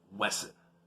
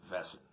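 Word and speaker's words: Wesen: of monsters called uh wesson but uh it's pronounced vessen i don't know why they turned a w into a v but i guess it sounds it's german so i don't know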